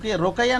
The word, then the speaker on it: রুকাইয়া: আপনার এই নামের প্রকৃত উচ্চারণ কি? রোকাইয়া না রুকিয়া, কোনটা হবে ওটা? ইয়া স্যার, রুকাইয়া।